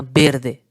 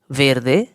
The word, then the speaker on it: verde: Green green को हम बोलते हैं वेरदे या बेरदे। प्रोनाउंसिएशन है वेरदे वेरदे।